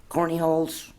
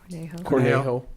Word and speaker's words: Cornejo: The only other thing, I always mispronounce it, Corneyholes. Cornejo.